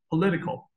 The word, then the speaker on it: political: 怎么发音，political。 Political, political, 把那个 li 发音发重一点，前面后面发轻一点。Political, political, 好，political, 好，political。